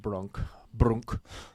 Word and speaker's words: Brock: But if you want to pronounce it correctly, it's actually pronounced Brunk. It's Nordic, so don't be fooled by the B-R-O-C-K.